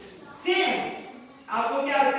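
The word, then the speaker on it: Samhain: Halloween is actually summit. अगर youth में से कभी किसी ने स्पेलिंग लिखने हैं, इस वर्ड को लिखना है, तो लिख सकता है।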